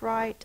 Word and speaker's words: right: turn to the right r i i in the middle of the base word can be spelled with I with a silent g h that says long I that's not considered a vowel team that's just an unusual spelling the last sound is